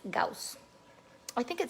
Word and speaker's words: Gauss: thought it said goss well in english it would be pronounced goss but he's german and so his name is gauss i think it says